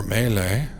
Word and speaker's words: melee: So, that's a big melee over there, or melee. That's the correct pronunciation. I've always said melee wrong.